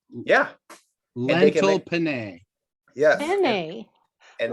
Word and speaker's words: penne: lived in Italy for a while, so I recommend you do not say penne. Penne. Pasta Penne. penne. Because Yeah, Accent on the first you know, the syllable.